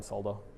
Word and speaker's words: solder: and like silkscreen and solder mask and all that. You know, Australians pronounce the L in solder.